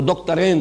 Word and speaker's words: دکترین: نام لوں گا، وہ دکترین ہیں، میں عربی تلفظ استعمال کر رہا ہوں، دکترین، دو ڈاکٹرز ہیں، لیکن یہ کہ وہ فکر جدید کے حوالے سے کرنے کا کام کیا ہے؟